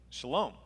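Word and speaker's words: שלום: And the way you pronounce that in Hebrew is Shalom, means peace.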